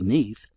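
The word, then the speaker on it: Nudd: is mentioned that nud in Welsh is pronounced simply neath and not otherwise.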